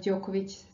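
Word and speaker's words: Đoković: at the beginning of Djokovic's surname, sound Ć, but we are talking about this sound at the end of the word here, Ć, Djokovic. And this ending ich is typical for Serbian surnames, and this is the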